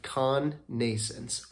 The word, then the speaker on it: connascence: which is Con Nations say it with me con nasons what a weird pronunciation of that word and I double checked that is how it's pronounced cognasance all right let's get into it all right